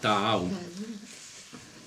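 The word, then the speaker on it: תעאו: Es Tav, Ain, Aleph y Vav. Se pronuncia Ta'au.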